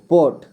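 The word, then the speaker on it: pot: ठीक है, ओ, पोट, इसको पार्ट नहीं पढ़ना है। ठीक है, पॉट, पॉट, पॉट, इस तरह का उच्चारण होगा इसका।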